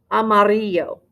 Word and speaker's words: amarillo: word for yellow amarillo amarillo now those two ls make a y sound yes it looks like